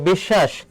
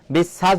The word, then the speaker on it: বিশ্বাস: তাহলে দেখো বিশ্বাস, আমরা কি কখনো বলি বন্ধু তুই আমাকে বিশ্বাস করিস না কেন? বিশ্বাস বলি না, আমরা বিশ্বাস বলি।